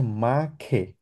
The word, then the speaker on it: mache: আচ্ছা, এটাকে আমরা বলি হচ্ছে মা খে, খ উচ্চারণ করি, আবার বলেন।